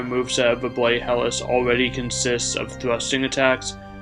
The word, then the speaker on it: Helice: be showcasing a build centered around the bloody helis a somber heavy thrusting sword in Elden ring fun fact the word helis is Greek in origin so it can be pronounced hel but I'll stick with saying helis in this video since it flows better in